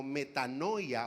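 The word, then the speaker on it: μετάνοια: es una palabra que se pronuncia o suena como metanoia o metano algo muy similar a esto el pastor tal vez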